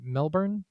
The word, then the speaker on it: Melbourne: Melbourne? It's Melbourne, yeah, right? Melbourne. Something stupid like that. Even though it's spelled fucking born, whatever.